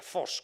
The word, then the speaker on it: Vos: Por lo tanto, hay numerosos artistas que tienen el apellido Vos, que se pronuncia Fos, con F.